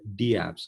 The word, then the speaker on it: dApps: on ethereum are called d apps or dapps like people pronounce it both ways so decentralized applications that's